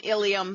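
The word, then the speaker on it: ileum: Make sure you learn the spelling of the ilium, because you have another body part pronounced exactly the same, ilium, spelled with an E instead of an I.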